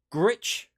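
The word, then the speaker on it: Gwrych: But you went to, let me pronounce this right. Gritch is Welsh.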